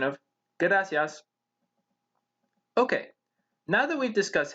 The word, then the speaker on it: gracias: in the word gracias we don't roll the r but instead we simply tap it for a pronunciation of gracias okay now that we've